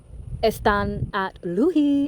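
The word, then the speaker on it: Asdzą́ą́ Nádleehé: And y'all's Earth Warrior is the turquoise changing woman, who in Navajo terms is the turquoise moon goddess and is pronounced Estan at Luhi.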